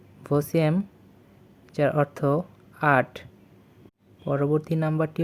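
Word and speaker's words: восемь: আবারো বলছি সিয়াম বা সাত পরবর্তী নাম্বারটি হচ্ছে ভসম ভসম ভসম যার অর্থ আট পরবর্তী নাম্বারটি হচ্ছে দেভিয়েত দেভিয়েত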